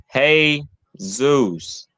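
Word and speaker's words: Jesús: the most high and how do you say Jesus name in Spanish Zeus hey Zeus like you greeting this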